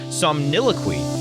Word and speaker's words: somniloquy: Let me see if I can pronounce it correctly. Somniloquy.